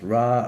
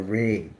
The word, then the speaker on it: Ra: Raw, pronounced Rah or Ray, was the god of heaven, the son, and the origin of life in Egyptian mythology.